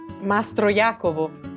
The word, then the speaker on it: Mastroiacovo: ¿Cómo pronuncio tu apellido? Mastro Jacobo.